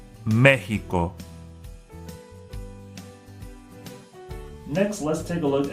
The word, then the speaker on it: México: The letter X makes the H sound. México, México, México.